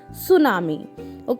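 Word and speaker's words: tsunami: है next word इस सुनामी आ कि मिट्टी साइलेंट रहता है लेकिन सुनामी सुनामी इस एंड एक्सट्रीमली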